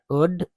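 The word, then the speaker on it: would: गया terrible snake that वुड वुड एल जिसमें वुड वाले में एल जो रहता है यह साइलेंट होता है।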